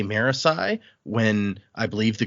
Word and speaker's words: Marasi: Marisi when I believe the correct pronunciation is Morassi or something like that. And Dak, you've listened to some of the audio book. Maybe you know. Uh, no, the audiobook pronounces it Marisay.